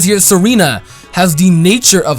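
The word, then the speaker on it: Tsareena: say it right now Serena I think that's how you pronounce it cuz the te like tsunami it's usually silent Serena ah wow they could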